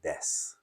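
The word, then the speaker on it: です: recommend saying this and do you pronounce the U at the end you can it's just a little extra level of formality or you can just say Des right and two is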